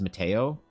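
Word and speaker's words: Matejko: I don't speak Polish, but I'm pretty sure, I'm 98% sure that you pronounce this as Mateo.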